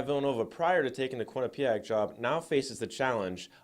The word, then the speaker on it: Quinnipiac: tournament Quinnipiac the other basketball school in Connecticut pronounced Quinnipiac became the fourth team joining BYU San Francisco